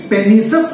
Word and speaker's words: pernicious: আমরা কিন্তু এটাকে পার্নিসিয়াস অ্যানিমিয়া বলবো না, PERNICIOUS, এটাকে পার্নিসিয়াস অ্যানিমিয়া বলবো না, এটার প্রপার প্রনাউন্সিয়েশন কি, পেনিসাস অ্যানিমিয়া। তাহলে ভিটামিন B12 এর ডেফিসিয়েন্সিতে